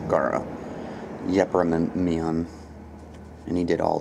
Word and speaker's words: Garo: Yeah, Garo. That's it, not Geno. Garo.